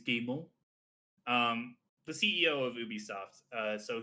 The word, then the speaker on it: Guillemot: Yves Yeez Guillemont, or something like Guillemot, that. I think it's Guillemot.